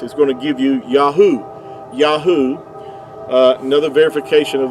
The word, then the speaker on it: Yahuah: in Israel without valpoints so you didn't need the vow points to get the Yahoo pronunciation they're spelled with the the modern Hebrew the three letters uh Yahoo would give you the sound um these three letters here the the yode Yad and the hey and the uh would give you Yahoo and uh even Benjamin